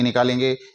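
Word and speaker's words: knock: देंगे और N double E नी ही इसका उच्चारण होगा नी ही इसकी ध्वनि निकालेंगे इसी तरह के एन ओ सी के एन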